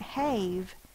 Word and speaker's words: have: That's why this silent E does not make that say its long sound. A, it's not have, it's have. It's really a closed syllable, one vowel followed by one or more consonants. The vowel is short, A, but the E is protecting the V from the end of the word.